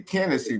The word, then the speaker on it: Kennedy: Hey, Kennedy, put a K in front of Hennessy, and that's me.